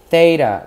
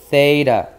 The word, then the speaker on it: theta: Do not set beta with the B as in Bravo, but theta, like when you say you think theta, okay? That's how you say theta.